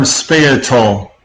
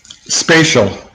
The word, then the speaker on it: spatial: simple question for you you used the term spay atoll a lot as opposed to spatial what is